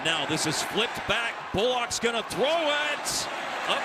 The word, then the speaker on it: Bullock: familiar with the NBA, the Reggie Bullock style pronunciation of the last name B-U-L-L-O-C-K, Bullock.